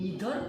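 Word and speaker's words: neither: Actually द pronunciation is नीदर नोर, ये भी नहीं वो भी नहीं, नीदर नोर, ये भी नहीं वो भी नहीं।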